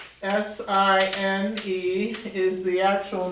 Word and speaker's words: sine: So we call the first one the sine. S-I-N-E is the actual name. The nickname is S-I-N, pronounced sine, no sin.